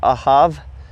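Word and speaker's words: אהב: So on the word love, it's ahab, or some people pronounce it ahav in the Hebrew.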